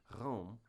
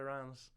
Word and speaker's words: Reims: But, you do say it almost It almost sounds like an N to me like instead of Reims. Reims. It's just weird. Reims. Yeah, cuz it this is the one that's spelled R E I M S. Reims I would read it.